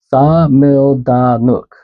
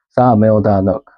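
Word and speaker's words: Samildánach: He's known as, here we go, Sa Mil Da Nook. And spelling of that is S-A-M-I-L-D-A-N-A-C-H. Sa Mil Da Nook, or Danuk.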